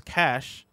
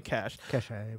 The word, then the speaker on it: cache: more, including the Gunslinger's Cache? I'm going to say cash. Cache. Either way. I honestly pronounce it either way.